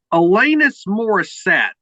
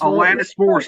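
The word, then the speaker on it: Alanis Morissette: the Mel Brooks and elanus I might be mispronouncing this person's name elenis moriset elenis moriset yes Alanis moris I think I was pronouncing Rock and roller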